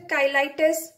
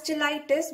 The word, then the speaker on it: cheilitis: right now what does measure kylitz or some pronounce it as gelitis both are correct i think so right